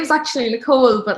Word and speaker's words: Nicole: big one for me i always get called nicholas i'm like no it's nicole but i say it really politely i'm just like oh my name is actually nicole but like nicholas fine